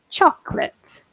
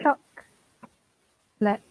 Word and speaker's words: chocolate: One thing I would say is things like chocolate. So when we remove the middle vowel. Right. Chocolate.